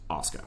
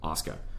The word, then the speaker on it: Asuka: people said it but apparently the correct Japanese pronunciation is Asuka so I will refer to them as Asuka Asuka makes some fantastic